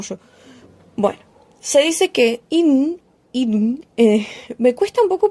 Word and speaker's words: Idunn: Bueno, se dice que Idun, me cuesta un poco pronunciarlo porque es como que el nombre no es Idun, sino que es Idun, y como que tenga la entonación en la I, me está matando la lengua.